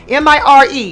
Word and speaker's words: Mire: Is it Meyer? M-I-R-E. How should I be pronouncing that? Oh, Mire. See, I can't roll my R. See, I just can't do it. I try. Say it like a D.